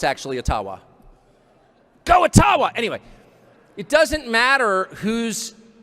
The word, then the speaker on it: Ottawa: taken from you no matter who is in Ottawa or as we say atawa which by the way is the correct pronunciation according to my friends in the ajba